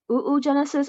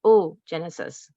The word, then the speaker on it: oogenesis: cover is ogenesis and I've heard it be pronounced multiple ways ooh Genesis or oh Genesis okay and either way it's fine as long as you know what it is okay so oh